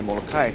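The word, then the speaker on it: Molokaʻi: Half of the people say Molokai, half of the people say Molokai. That's not to say one is wrong or right. I just think it's kind of like language. Who you learn from, you continue that knowledge. Yep. So if anybody has a question, both are correct.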